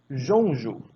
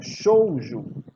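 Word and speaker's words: Shoujo: O nome da franquia em si é Mahou Jonju. Não, é Shouju. Shouju.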